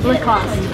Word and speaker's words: Lacoste: Lacoste. Yes. So no E in the end. No. Lacoste. Remember? Lacoste. Or if you want to say it with like a little bit of a French accent, Lacoste.